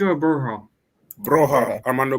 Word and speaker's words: Broja: Broja or Broha? Broha. Armando Broha.